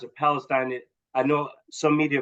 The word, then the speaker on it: Palestine: I pronounce it Palestine.